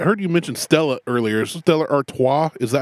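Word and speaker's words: Stella Artois: Stellar Artois.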